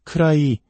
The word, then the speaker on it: could I: 쿠드 아이라고 또박또박 발음하면 무척 어색하게 들립니다. 디사운드가 모음과 모음 사이에 오면서 우리말의 리을 받침과 유사한 부드러운 소리로 변합니다. 그래서 크라이 혹은 크라이처럼 들리게 됩니다.